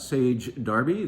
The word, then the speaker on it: Sage Derby: Let's have a little advertisement for the fact that, yes, we sell great cheese, and yes, you already knew about Sage Derby, that's how you say it, from Derbyshire, England.